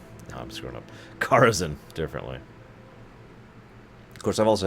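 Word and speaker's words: Karazhan: Just above Kerazhan. Please join me here. They pronounce Carazen really weird. Yep. Kerazan. I've never heard anyone say it that way.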